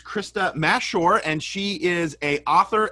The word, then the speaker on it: Mashore: And it's Krista Mashore, and she is a author and a coach, and just recently released a new book.